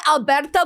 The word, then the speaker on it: Alberto: good because they're under Alberto Preciado. Do I say it right? Yeah.